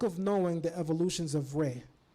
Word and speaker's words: Ra: knowing the evolutions of Reay some people say Rah but the Egyptians actually said re in this ancient text